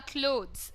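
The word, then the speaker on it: clothes: Pronunciation भी अलग होता है। इट्स अ क्लॉथ एंड दीज आर क्लोथ्स। सो क्लॉथ एंड क्लोथ्स में ये डिफरेंस होता है, रिमेंबर।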